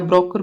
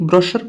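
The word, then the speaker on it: brochure: आगे देखते हैं, 100 पे आगे अपन, ये लिखा है ब्रोशर, ब्रोशर या ब्रोकर भी पढ़ सकते हैं ना, ब्रोकर। विवरणी का, लेकिन स्पेलिंग याद रखना आप, CHURE है और यहाँ पर BROKER है, तो इसका अर्थ हो गया विवरणी का।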